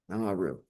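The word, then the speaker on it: Nauru: It's spelled N A U R U. Naru.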